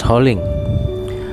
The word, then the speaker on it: Holing: Originally, Holing might be pronounced as Kaling, even though the modern Chinese pronunciation is Holing.